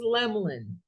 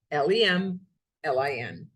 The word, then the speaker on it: Lemelin: I say, my name is Lemlin, Lemlin. It's not spelled that way, but if you say it, Lemlin, you're saying it right.